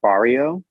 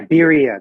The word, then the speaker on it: birria: Like, I've been trying really hard to find Barrio. Yeah. Am I saying it right? That's the tacos that you dunk. Oh no, a quesabirria. Yeah, birria.